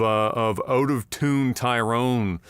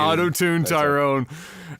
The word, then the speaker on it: Out of Tune Tyrone: They say auto tune. Auto Tune Tyrone. It's easier to say.